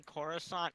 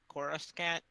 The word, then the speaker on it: Coruscant: fictional things wrong like someone kept calling Khorasan Coruscant that was almost